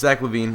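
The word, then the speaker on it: Zach LaVine: I just don't pay attention too closely to how guys are pronouncing certain guys names or whatever. So, I apologize. It's Zack Lavine.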